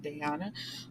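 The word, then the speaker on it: Dayana: family her name is I was saying Diana is spelled d-a-y-a-n-a but Diana um so because this is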